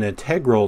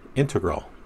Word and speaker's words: integral: M390, and it's an integral knife. You probably wanted me to say integral, but I think the correct pronunciation is integral.